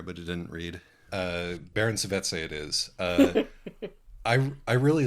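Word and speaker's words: Saveze: at least opens with the author's note on pronunciation, which says that the letter Z is pronounced Z, as in German. Oh, excellent. I don't actually know enough German to know whether or not that it is as in German, but the letter Z is definitely pronounced TS, and so it's Savizzi, clearly.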